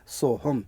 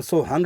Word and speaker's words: सोहम: आधा म हलंत शुद्ध शब्द है सोहम लेकिन सोहंग इसलिए बोला जा रहा है कि उसके बाद फिर हमने दोबारा से सोहम बोल दिया तो वह सो लगने के कारण से उसको हंग उसका उच्चारण हो गया।